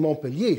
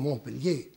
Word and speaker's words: Montpellier: Die Deutsch, am Deutschen haben wir ja die Betonung auf der ersten Silbe, am Französen auf der letzten.